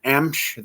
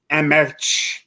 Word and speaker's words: Emch: People just kind of kill that last name. Emch. They add vowels and words like they think they're going to correct how it's said. So it's just pronounced Emch, E-M-C-H.